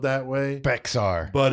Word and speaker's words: Bexar: now it is weird bear county is actually spelled b x a r but it's pronounced bear and I know that